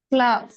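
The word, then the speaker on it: plough: cultivating the line प्लग प्लव प्लव प्लव हां प्रोनाउंसिएशन इज प्लाव spelling is पी एल ओ यू जी एच बट प्रोनंसिएशन इज प्लाव प्लाव ठीक है प्लाव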